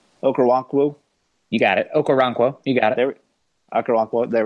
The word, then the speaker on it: Okoronkwo: He still lost a couple reps, especially when he went up against, I always get this name wrong, Okoronkwo. You got it. Okoronkwo.